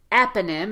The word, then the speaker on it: eponym: proprietary proprietary proprietary perfect there's also another strong syllable here in eponym it's the first syllable in eponym so again vowel is louder and longer and because this letter O is the weakest syllable in the word eponym it's going to be replaced by the uh sound also known as the